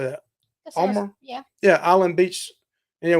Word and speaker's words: Balmoral: Balmoral? Yeah. Yeah, Island Beach And, with the South, we're like Armorall. So it kind of sounds like Armorall.